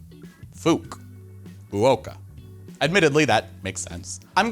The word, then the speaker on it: FUK: Fukuoka Airport is fuk so you pronounce it like Fukuoka fuk Oka admittedly that makes sense